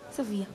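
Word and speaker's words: Sophia: Sofia. Quindi sia se è scritto in inglese, sia se è scritto in italiano, si pronuncia Sofia.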